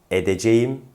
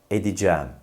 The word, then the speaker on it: edeceğim: yahut söylenen kelime tekrarlıyorum yanlış telaffuz olan şu edeceğim doğru telaffuz şu edeceğim siz de benimle birlikte tekrarlayın yanlış telaffuz edeceğim tekrar edeceğim doğru telaffuz edeceğim şimdi bu kelimeyi bir